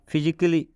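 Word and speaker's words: physically: फिजिकली, इसमें भी ए के बाद डबल एल वाई आया है, तो इस डबल एल वाई का उच्चारण नहीं होगा। बात समझ में आ रहा है ना? बहुत सारे स्टूडेंट इसका उच्चारण किस प्रकार करते हैं? बहुत सारे बच्चे इसका उच्चारण करते हैं फिजिकली। तो फिजिकली नहीं पढ़ना है ना, ए को साइलेंट यहाँ पे किया गया, ए का उच्चारण नहीं करेंगे तो हो जाएगा फिजिकली, मतलब शारीरिक रूप से।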